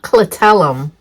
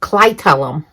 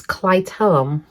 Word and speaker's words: clitellum: a few times, and apparently it's not clitellum, which is the band around the worm that I'm talking about. The audio says clitellum. So the proper way to say it is clitellum, which is fascinating.